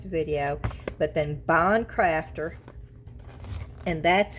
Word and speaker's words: Bondcraftor: if you're interested in winning this, just put Boncrafter resin. Bon crafter resin in the comments and you'll be entered. Of course, you have to subscribe and you have to like the video, but then bond crafter.